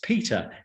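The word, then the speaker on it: Petre: settlers in the 1840s it is spelt p-e-t-r-e but is pronounced as peter and it is named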